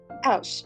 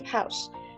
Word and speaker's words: house: So, in some accents of UK English, especially in the Cockney dialect, the h sound at the beginning of words is often dropped. For example, in the word house, house may be pronounced as house instead of house. So they just eliminate the h sound in the initial words.